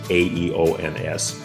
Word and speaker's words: aeons: They were called aeons, meaning eternities, A-E-O-N-S, pronounced aeons, meaning eternities in Greek.